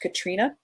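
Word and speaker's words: Catriona: Campbell is busy and I know that's pronounced Katrina because I there is an an author Katrina mcferson who I sat next to at a convention and I did ask her how that name is pron pronounced and it is pronounced Katrina uh Katrina Campbell is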